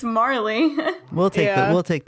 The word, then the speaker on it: Marley: we're lacking with jacob morley um i need to make a judgment call here because it's actually jacob marley like bob marley oh that's just how